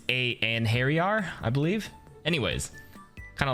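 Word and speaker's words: Einherjar: to pronounce this word it's like a norse word uh a in hairy in and harry are i think is how you say it i looked at it at first i'm like ein herjar it's a and harry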